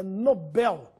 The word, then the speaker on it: Nobel: inglês nóbel ou Nobel quando se ganha o prêmio é Nobel Esse é o nome do Sueco que nos deu o prêmio da tão distribuído até hoje Alfred Nobel portanto sem acento não